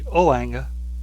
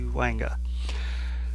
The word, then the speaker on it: Ouanga: I think it's how it's pronounced. Could be Ouanga, but since it's about the West Indies, I think it'd be more French, so it'd be Ouanga.